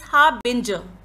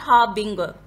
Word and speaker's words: harbinger: It's harbinger, not harbinger. The memory clue for this word is how it ends. Binger sounds like bringer. Harbinger is someone or something who is a bringer of news about a future event.